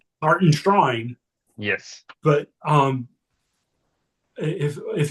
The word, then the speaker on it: Hartenstein: Hartenstein I guess is the right way to say it. Put the emphasis on it. Hart and Shrine.